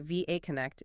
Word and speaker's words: VAConnect: And you're right to pronounce the letters separately, VAConnect in 2014.